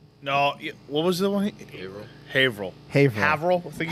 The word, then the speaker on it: Haverhill: What's the one that I mispronounced? You all yelled at me for. Oh, yeah. No, what was the one? Haverhill.